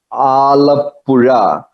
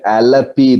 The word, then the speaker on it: Alappuzha: This place is called Alappuzha. Little difficult to pronounce, or you can name it Alapi. That's what they say in English, Alapi.